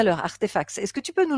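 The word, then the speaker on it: RTFKT: alors si on tape RTF KT donc ça se prononce artefact mais RTF KT se prononce artefact ah mais oui c'est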